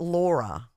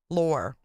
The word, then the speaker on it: Lore: No, it's not Laura. Oh, kid, you're going with Tucker? Sweet. Lore like whore. Right. Rhymes with whore. Lore.